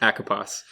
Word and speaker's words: ACOPOS: spell ACO POS yes track and the correct pronunciation is a Capas echo pass so yeah the first time actually that I